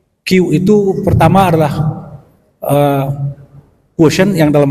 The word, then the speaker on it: Qi: Q yang ketiga adalah Qi dalam bahasa Cina, Qi bacanya, Qi atau Qi artinya energi.